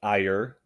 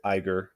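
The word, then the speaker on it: Ægir: I believe the correct pronunciation of his name is Ire, but I've been pronouncing it Iger this whole time.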